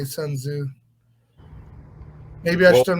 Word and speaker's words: Sun Tzu: oh yeah yeah well the way that's written i thought it seemed like it would be sun z but i think i've heard everyone say sun tzu maybe i should not